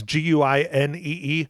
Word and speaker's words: Guinee: And anyways, okay, Mike, another one was Tim, I don't know how you pronounce this last name. Guinee. It's Guinee.